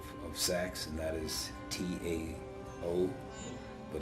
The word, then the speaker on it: Tao: For instance, the Taoists and the Tao of sex, and that is Tao, but it's pronounced with sounding like a D.